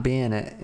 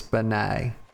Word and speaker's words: Banet: And no, it's not Bennett. No, I'm not churching that up. It's very simple. Everybody knows that when you spell it that way, it's Benet, just like Benet Ramsy.